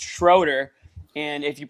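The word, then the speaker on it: Schröder: It said it's pronounced Schroeder, and if you pronounce it Schroeder, I that's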